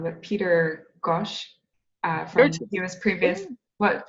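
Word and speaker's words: Gøtzsche: might pronounce his last name wrong, but Peter Gosch from he was previous. What? How do you pronounce it? Yeah, Goethe.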